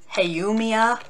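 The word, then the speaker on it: Haumea: you have cheron the largest moon of pluto hey yumiya that's how you pronounce that make make wonder what it makes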